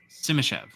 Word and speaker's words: Simashev: Simashev.